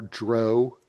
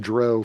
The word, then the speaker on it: drow: people were calling the Drow. And so that's the first time I remember them putting out a pronunciation guide. They wanted to make it very clear that it rhymes with cow.